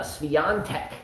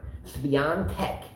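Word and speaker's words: Świątek: Iga Swiatek. Yes, I said it with the N with no N in the word. Swiatek.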